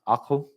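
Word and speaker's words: عقل: So the L is pronounced aql.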